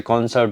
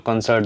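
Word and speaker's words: concert: Pronunciation कर देते हैं, जैसे कॉन्सर्ट होता है, कुछ लोग कंसर्ट बोल देते हैं, कंटेनर, बहुत अलग अलग वर्ड्स को अलग अलग तरीके।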